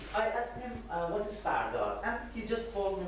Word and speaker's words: Firdar: It's pronounced Firdar. There are lots of pronunciations: Firdar, Firdaria, Firdaria, and Firdar, Fardar, Fardariyat. Different sort of pronunciation we have of this word, and there is no actually clear meaning for this term yet.